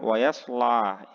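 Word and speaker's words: وَيَصْلَىٰ: Yang perlu diperhatikan di sini yang pertama wayaslah ya. La-nya panjang satu ayunan.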